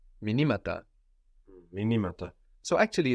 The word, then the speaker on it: μηνύματα: So the accent moves. Minima, minimata. The stress moves.